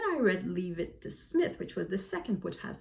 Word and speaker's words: Psmith: This is Leave It to Smith with a silent P.